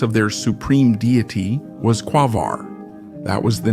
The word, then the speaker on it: Quaoar: Many people put the stress on the last syllable when pronouncing this name, which is not correct. In addition, in this form, it sounds similar to the term quasar, although the trans-Neptunian object